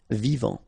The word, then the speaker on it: vivant: Final T not pronounced. Vivant.